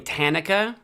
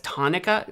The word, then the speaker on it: Tanaka: I joke about you pronouncing Tanaka as tanuka.